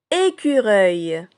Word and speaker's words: écureuil: Écureuil. Écureuil. Répétez avec moi. Donc vous avez le E de été, le cédure de culture et le œil de fauteuil. Écureuil. Et si on décompose le mot bouilloire, on trouve qu'il renferme 300.